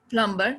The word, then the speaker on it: plumber: climber it's a climber plumber yeah thank okay this is a plumber climber in the same way if it comes after m because actual word is plum climb so this is a plumber and climber uh if